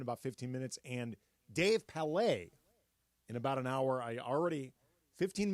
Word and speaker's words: Palet: And Dave Palet in about an hour. 15 minutes into this show, I'm already in corrections and retractions. Dave Palet, not Palet.